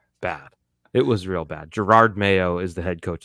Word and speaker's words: Jerod: Jerod Mayo is the head coach of the Patriots, if you know. I have another topic. I think people should pronounce names correctly. There's no R before the D.